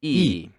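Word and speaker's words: ㅣ: a long vertical line this one looks like a capital i in english doesn't it yes and yes it is pronounced as e and now you can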